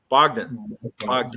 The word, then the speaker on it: Bogdan: Bogdan.